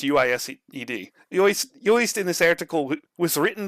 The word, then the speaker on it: Uist: It should be noted, of course, on this article that the Scots that was how do you pronounce UISED? Uist in this article was written by a body that hasn't a good grip on the line.